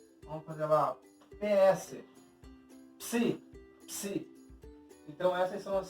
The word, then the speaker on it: psi: O psi vai ser então o pi mais o sigma. Vamos fazer lá PS. Psi.